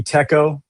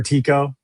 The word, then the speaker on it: TECO: And then if you buy any Teco or Tiko chill, guys, however you want to say that one, that's on you. Uh, I pronounce it Teco.